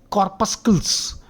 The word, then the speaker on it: corpuscles: Corpuscles, okay, white blood corpuscles, the C is silent.